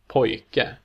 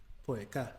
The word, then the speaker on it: pojke: syllable where the stress is on the first syllable and the ending is a recognizable traditional ending. Pojke, Pojke.